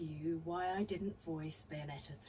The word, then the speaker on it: Bayonetta: a character called and I hope I'm saying this about Bayonetta uh she was yeah good job good job old man yes you said it right Bayonetta okay all right she